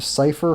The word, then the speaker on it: Sypha: Sypha, the Japanese informed us that Sypha's name was Sypha. I can't do the pronunciation properly, but essentially, what they were trying to say in Dracula's Curse was they were trying to say that this character was named Cypher Fernandez.